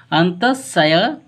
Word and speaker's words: अंतःस्यंदन: इसको हम पढ़ रहे हैं अंतःस्यंदन, ठीक है, अंतःस्यंदन पढ़ रहे हैं क्योंकि ये 9 के रूप में प्रोनाउंसिएशन हो रहा है। तो अंतःस्यंदन कहा जाता है।